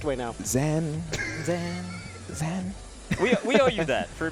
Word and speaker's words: Zain: You were saying Zain on commentary, I heard. We were saying Zain on commentary. Yeah, that is the real pronunciation of mine.